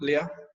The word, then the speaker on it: Lea: Am I Leah. pronouncing that right? Leah? Okay, Leah.